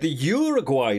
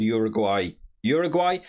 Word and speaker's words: Uruguay: And if anyone, I've seen a couple of different pronunciations for Uruguay, by the way. Over here in the UK, I've only ever heard people call Uruguay, but I did hear a couple of the commentators calling them URUGUAY. So if that's a better pronunciation, let me know down in the comments.